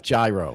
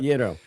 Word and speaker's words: gyro: It's not gyro. No, you don't. Gyro. We charge you an extra $1 if you pronounce it as gyro.